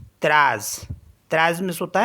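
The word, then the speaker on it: treize: टी ई टी आर ई आई जड ई त्रास तज मीस होता है 13 आर ई आई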